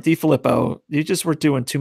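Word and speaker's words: DeFilippo: I think Minnesota is expanding the run game a little bit more, obviously, since with DiFilippio. I always forget how to pronounce his name. DiFilippo.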